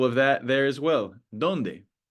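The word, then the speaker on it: dónde: Our next rule is wherever we see an accent mark, donde hay una tilde. So we have an example of that there as well. Donde? Donde? On the O.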